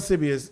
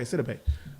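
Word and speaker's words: Gabourey Sidibe: The chick who plays, yes, Gabrielle Sibi is a great actress. And you She still is a said her good name wrong.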